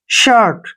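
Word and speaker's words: shirt: है ठीक है ना तो आई का उच्चारण हम अ के रूप में करते हैं यहां पे शर्ट क्या पढ़ेंगे इसको शर्ट ऐसे सर्ट ठीक है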